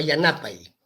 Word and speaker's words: Yanapay: Pero hay que decir Yanapay, porque Yanapay significa ayuda. Pero a ver, en la televisión, cuando van a comunicar, no dicen Yanapay, pues los noticieros los pronuncian Yanapay. Ajá. Ahora, si dicen Yanapay, el quechua hablante no lo va a entender como ayuda, sino lo va a entender como negro él.